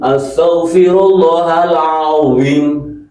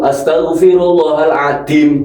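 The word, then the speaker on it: العظيم: Kalau ini du adzim astagfirullahalazim. Kalau dibaca astagfirullahaladzim huruf dal berubah. Astagfirullahalazim.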